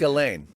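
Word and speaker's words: Ghislaine: say her name you're probably saying it it's galain yeah but you're right to not know how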